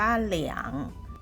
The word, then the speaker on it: 两: คำ ที่ 2 ค่ะ ตัว อักษร ตัว นี้ อ่าน ว่า เหลียง เหลือง เสียง ที่ 3 นะ คะ หมาย ถึง